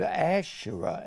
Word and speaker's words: Asherah: And the proper word for grove is the word Asherah, A-S-H-A-R-A-H, E-R-A-H. S-H, Asherah. And the Asherah was always worshipped in the form of a triangle.